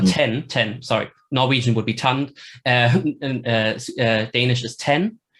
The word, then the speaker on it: tand: Sorry, Norwegian would be tand, and Danish is ten. Right. And it's also fronted, but the N is still there, and it's basically written T-A-N-D. So the D is silent, which is also a